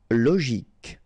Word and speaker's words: logique: Logique, remember, Q-U-E at the end, K, logique.